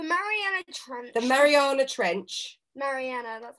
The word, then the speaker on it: Mariana: Mariana, that's how it's pronounced.